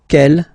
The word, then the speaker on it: quel: Quelle, masculine form here, will be pronounced exactly as the feminine form here. Quelle. So only one sound, okay?